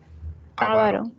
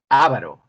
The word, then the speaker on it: avaro: Y la pronunciación es de acento grave, o sea, aquí en la segunda. No es avaro, es avaro.